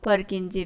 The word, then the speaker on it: Purkinje: उसके बाद है परकिंजे फाइबर. कई लोग इसको पुरकिंजे भी प्रोनाउंसिएट करते हैं.